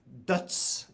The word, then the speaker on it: Døds: Paul, tell us, you know, about the Dodd's Diving League and and how you created this. Yeah. So, it's first and foremost, it's uh it's pronounced Duts in Norwegian, which means death, which is like very